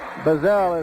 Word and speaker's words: Bazell: And Matt Fridley goes after Basil, or Bazell, whatever he is, with 38 seconds remaining. 1-point ball game. That's his second. 1-1. Darren Bazell. Bazell is the way it's pronounced.